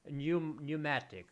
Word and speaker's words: pneumatic: pneumatic pneumatic pneumatic pneumatic so what letter is not pronounced P that P is not pronounced psychologist pneumonia do do you see do you hear the letter P in those words psychologist pneumonia pneumo and